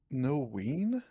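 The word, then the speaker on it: Noein: Noween? Yeah, that's how you pronounce it.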